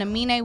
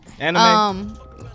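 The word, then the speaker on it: Aminé: How you say his name? Amine. Amine. That's how you Amine. say it. Amine. Amine. Amine. Amine. Amine. Yeah. Anime. No, not anime.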